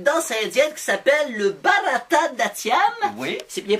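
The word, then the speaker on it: Bharatanatyam: intéressé à une danse indienne qui s'appelle le barata d'tiam oui c'est bien prononcé c'est bien prononcé merci les six premières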